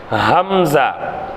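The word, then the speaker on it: همزة: கண்டுபிடிக்கலாம் சரியா அடுத்து ஹம்ஸா ஹம்ஸா ஏறத்தாழ ஹாவினுடைய உச்சரிப்புதான் ஹம்ஸாவுக்கும் வரணும் சரிங்களா ஹம்ஸா தொண்டையின் கடைசி பாகத்தில் உச்சரித்தல் ஹம் ஜா ஹம் ஹா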